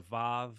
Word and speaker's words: vav: V V or wow it has become conventional within the study of Biblical Hebrew to refer to this as a VAV but uh historical Linguistics thinks that originally it was far more uh commonly pronounced as a w sound but this is based